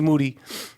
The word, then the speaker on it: Moody: So basically, me and G Moody, whose last name rhymes with duty, we were fending for ourselves.